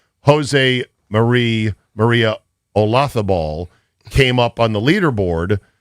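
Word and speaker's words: Olazábal: And so I gave her a little coaching up on it's the Loth that is the key, the heartbeat of that name. Jose Maria Olafo. It's Spanish. The Z is a thath.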